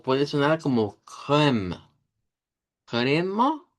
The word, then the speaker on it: crème: Y noten que en las dos, tanto en esta crème, como en esta, crème, no se estaría pronunciando la E del final con el sonido de shba.